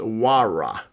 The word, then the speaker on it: Huayra: So it's Pagani, pronounced Huayra.